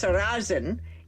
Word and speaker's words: Sarrazin: And she happened to mention Michael Sarrazin's name is actually pronounced Sarazin in Ukrainian, and it means buckwheat.